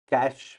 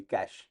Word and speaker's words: cache: कैश spelling बोलो, CACHE, कैशे, इफ you want to pronounce it the perfect way, but that is very difficult to गेट it right, तो इसके लिए सब लोग उसको American वे से कैश बोलते हैं।